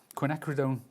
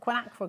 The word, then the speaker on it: quinacridone: This is called quinacridone gold.